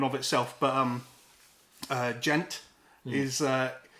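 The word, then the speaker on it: djent: kind of a genre so it's spelled d-j-e-n-t and it's uh it's a like onomatopoeic word for like how um like when you're palm muting on a guitar like that kind of sound um so in terms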